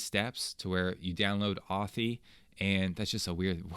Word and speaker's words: Authy: And I use the app called, I think it's Authy is how you pronounce it, as in authentication.